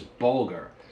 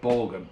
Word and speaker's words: bulgur: Alright, next up is bulgur. Not vulgar, which is what I am, but bulgur.